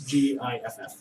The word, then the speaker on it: Giff: It's pronounced GIF. Per Wizards of the Coast, it's GIFF.